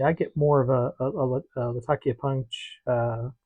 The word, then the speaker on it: Latakia: Latakia. Actually, pronounced Latakia. Again, because the town in Syria, and the pronunciation is Latakia, but I've always pronounced it Latakia, and it